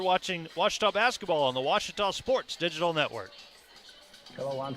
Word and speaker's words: Ouachita: university back in texas everybody pronounces it wichita but really it's ouachita washington washington how would